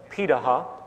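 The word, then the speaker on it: Pirahã: hunter-gatherer societies around the world such as the piraha which is how its pronounciating out of Brazil amazingly it appears that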